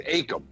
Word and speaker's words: Akam: real quick real quick is it pronounced akem or akam they always said akem okay just making sure